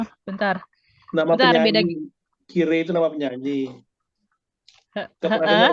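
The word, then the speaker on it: きれい: Karena dalam pengucapannya dia tidak tegas i, tapi dia seperti panjang. Kire, yume, makanya dia masuk ke kata sifat na.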